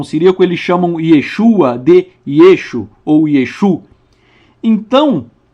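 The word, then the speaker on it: ישו: Yeshua o nosso Maia no aramaico a letra a final ela não é pronunciada então na região da Galileia Yeshua era chamado de yesu ou yesu e e até hoje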